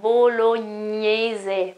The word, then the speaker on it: bolognese: So g and n pronounced together, gn, and you have to feel the air that blows out of your nose, okay?